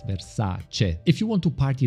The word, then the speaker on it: Versace: My English pronunciation might not be perfect, but as an Italian, please, please, please don't say Versace, it's Versace.